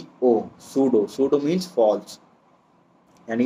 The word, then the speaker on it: pseudo: जो सूडो world है, सूडो की स्पेलिंग क्या है, PSEUDO, सूडो।